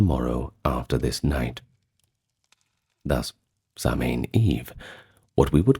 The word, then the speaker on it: Samhain: Now finally, the year would come full circle to Samhain, which in Irish is pronounced Samhain, but we generally know it as Samhain, at least that's how we pronounce it in English vernacular, so I'll try not